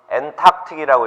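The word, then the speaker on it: Antarctic: 그럼 이건 엔탁틱이라고 읽어요.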